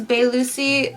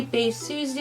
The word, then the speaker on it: Bae Suzy: talk about the main characters today obviously it's bae lucy sorry i'm sorry the pronunciation is bad on this one but the main lady is going to be bae susie we all know love her she is so